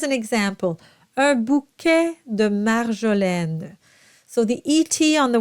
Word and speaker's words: marjolaine: And marjolaine is just like capitaine because you have that syllable at the end of the word.